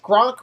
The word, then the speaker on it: Gronk: Gronk rhymes with Kronk.